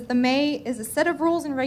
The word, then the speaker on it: Me: It's pronounced May, but it's spelled M-E.